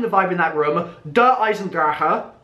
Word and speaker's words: Der Eisendrache: Der EISENDRACHE. That's what Dempsey says. Just like I've been saying for the last couple of weeks, with so many people like, oh, you've been saying it wrong. Nope.